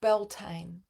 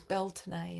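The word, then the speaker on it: Beltane: deception born of Illusion hence the Distortion of belan correct pronunciation I learned in Island last year is belon and this is the rights of spring which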